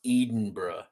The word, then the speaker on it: Edinburgh: It's pronounced Edinburgh.